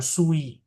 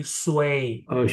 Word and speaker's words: 水: Jadi bacanya bukan sui, tapi sui gitu.